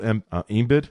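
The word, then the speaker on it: Embiid: they're gonna be missing Joel embed is that how you say his name yeah envid and they're hoping he's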